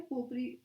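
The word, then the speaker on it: potpourri: इसमें T silent होता है, ठीक है, पोपरी प्रोनाउंस करते हैं इसको।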